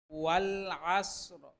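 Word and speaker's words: وَالْعَصْرِ: কিছুটা মোটা ওয়াল আসর শেষে এই র এর উচ্চারণ করতে হবে হালকাভাবে এই র এর উচ্চারণটা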